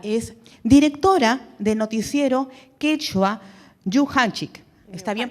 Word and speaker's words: Yuhanchik: actualmente ocupa ella es directora de noticiero quechua Yuhanchik. ¿Está bien pronunciado? Sí. Yuhanchik.